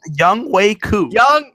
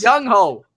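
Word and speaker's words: Younghoe: Young Wei Koo. Young. Fuck him. Just say one. Just say it correctly once. Young Ho.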